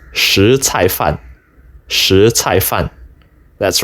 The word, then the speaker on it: 什菜饭: And it is true that the word (什) which we would normally read as shén or shěn is not to be read this way here. So, for those of you who gave the above as your answer in my survey, now you know. These characters, in this context, are pronounced shí cài fàn.